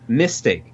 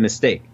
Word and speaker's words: mistake: Like, I was talking to a German guy who said mistake instead of mistake.